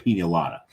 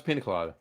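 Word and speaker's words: piña colada: Did he call it a pina colada or did he call it a pina-lada? No, it's pina colada.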